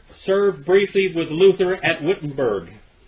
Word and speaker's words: Wittenberg: Demagogue, Menzer served briefly with Luther at Wittenberg. It's actually Wittenberg, but it's Wittenberg. That's the way we still have the pronunciation.